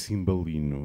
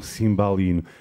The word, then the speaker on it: cimbalino: as meninas no porto não se diz cimbalino mas sim Simbal e não não é o a tem que ser aberta é um cimbalino mas atenção para além